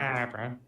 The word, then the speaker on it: Scarborough: Scarborough. Yeah, that's how it's pronounced.